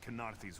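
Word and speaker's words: Kenarthi's Roost: smashed to flinders on kenarthy's roost every ship with a prowler ken arthy that's how you pronounce that word cheers for that that's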